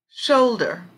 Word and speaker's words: shoulder: Shoulder, shoulder. The strong syllable would be on shoulder, on show, sorry, on this part, show.